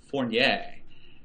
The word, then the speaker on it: Fournier: No, I know that you are not a Francophile and you hate the French, but I believe it's pronounced Fournier.